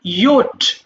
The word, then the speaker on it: yacht: ইয়াহ, ইয়োট।